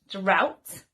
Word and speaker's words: drought: seeds another example is drought which is a period when there is no rain and the final example is